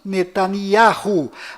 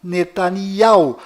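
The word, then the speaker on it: Netanyahu: bom Voltando ao assunto fora de Israel o nome deste primeiro ministro é pronunciado Benjamin nanaho mas dentro de Israel o nome dele é pronunciado benyamin netania confira fora dentro fora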